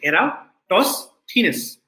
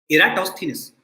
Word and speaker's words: Eratosthenes: sieve of eratosthenes and this is how you pronounce the name you say era toss thinness okay eratosthenes so this thief algorithm